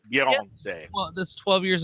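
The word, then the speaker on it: Beyoncé: Beyonce. Beyonce. That's how you pronounce it. See the French Beyonce? That's how you pronounce it, all right? Just because, everyone's been butchering her name for years. It's Beyonce.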